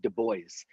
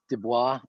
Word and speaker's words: Du Bois: His name looks like it's Du Bois, but it's W.E.B. Du Bois. Is how that's okay. Is how he pronounced it. Okay. But everyone mispronounces it, because you would see Du Bois and you would think Du Bois. French, yeah. Yes. Yeah. Or Cajun or something like that.